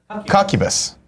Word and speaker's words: Cuccubus: BTW, if you have any trouble pronouncing my name, it's a cross between cuckold and succubus. Cuccubus.